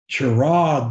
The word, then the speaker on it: Chiraag: And right now, we are talking with, don't tell me, Chiraag. Did I pronounce that correctly? Yes, you did, Coach.